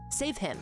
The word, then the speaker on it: Savehymn: is my full name save him it's supposed to be like a fun because if you guys don't know A Hymn spelled with a Y and an m and an N is like a church song it's like a church